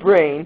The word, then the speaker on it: Braan: It's not Bran. It never was Bran. Some people say that. They don't know how to talk. Anyway, it's Brain.